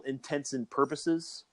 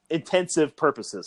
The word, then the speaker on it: intents and purposes: It's like the whole for all intents and purposes is the proper way to say it. INTENTS and purposes. Yeah. Intense but people, it's okay. Intensive purposes, for all intensive purposes. That's how some people say it.